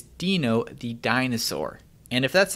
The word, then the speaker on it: Deno: node and yes I'm aware that Ryan Dahle pronounces it Danno but you might be unaware of the lovely new artwork that has emerged showing that it is not den o the sock puppet it is Dino the dinosaur and if